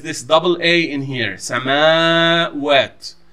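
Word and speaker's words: سماوات: The word samawat in the Quran has this double A in here, samawat, samawat. You don't pronounce it samawat. It's not a single A in here.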